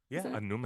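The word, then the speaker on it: Annúminas: Am I saying it right? Is that how you? Anumenos. Am I spoonerizing my words? Yeah, you got it.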